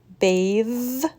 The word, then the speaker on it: bath: we have bath versus bathe cloth versus clothes breath versus breathe the first word is voiceless bath cloth breath the second word is voiced bathe clothes breathe what do you think